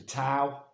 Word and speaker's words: Tao: Some people spell it T-A-O, the Tao. And some people, but it's said Tao, and some people spell it D-A-O.